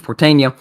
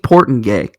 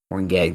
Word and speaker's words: Portenga: Michael Waltrip, Kevin Harvick, Mike Bliss, Steve Portania were victorious in those races. Steve Portengay. I think that's what they pronounced it. Okay, my bad. Portengay. There you go.